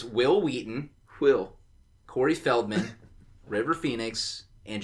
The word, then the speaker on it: Wil Wheaton: It's Wil Wheaton.